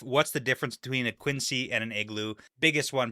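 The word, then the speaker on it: quinzhee: But for the fun fact today, after we had our conversation with Spencer about Quincy's versus Igloos and what that meant for the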